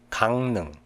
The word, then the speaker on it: 강릉: If there is a rear consonant after mium, iung in Chinese character, it's pronounced as nian. 담력, 담력. 침략, 침략. 강릉, 강릉.